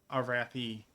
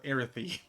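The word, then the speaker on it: Arathi: I for the longest time I did not pronounce Arathy like that. For the longest time, I called them the Arythy, which is terrible. And only when um some friends of mine told me how to really say it and that my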